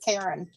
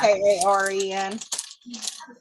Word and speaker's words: Caron: It's just pronounced Karen, like Yeah. Karen.